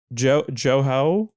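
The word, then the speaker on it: Jouhou: I believe he also recorded the Discordant Axis album, Joho. I forget how to pronounce it. Oh, Yoo-Hoo.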